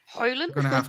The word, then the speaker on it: Højlund: Højlund. We're gonna have to hear commentators say this so we can practice. Rasmus Højlund.